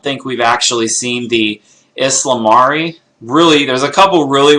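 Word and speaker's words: ysalamiri: right if he says this is how it's pronounced we're gonna just copy that so we get aslam re which again we're kind of getting an insight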